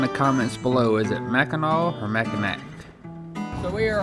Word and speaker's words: Mackinac: So you see, the sign says Mackinac, but it's pronounced Mackinaw for some reason.